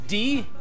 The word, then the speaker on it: die: D, which is just written die, it's pronounced D, is either when talking about a female gender or the middle gender in plural.